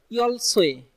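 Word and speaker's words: 열쇠: লক্ষ্য করুন, ইয়ল সোয়ে, এই উচ্চারণটা কিন্তু বারবার আপনাদেরকে লক্ষ্য করতে বলতেছি যে ইয়ল সোয়ে, এই যে এটা উচ্চারণটা কিন্তু সোয়ে, সোয়ে ওয়ে, মূলত ওয়ে।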